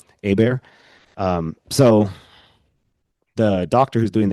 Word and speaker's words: Hebert: My name is spelled Hebert, but it's pronounced Hmm. Hebert. Hebert.